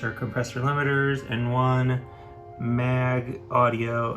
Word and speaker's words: Maag: compressor limiters and one mag audio i think that's how you pronounce it maag eq4 which sounds amazing